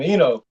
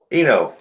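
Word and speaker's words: Eino: That is, call him Eno. Mino. Eno. E-I-N-O. Eno.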